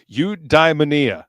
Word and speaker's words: eudaimonia: Okay, I I completely mispronounced that all the times that I was saying it earlier. So, udmania. And uh as you can see, he's got a uh convenient pronunciation down here.